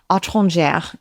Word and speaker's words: étrangère: Étrangère is the actual pronunciation, and it means you're an outsider, a stranger, if you will.